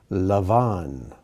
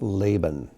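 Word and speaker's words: לבן: one of jacob's wives lavon or in our bibles it may be spelled out laban rahel or rachel asav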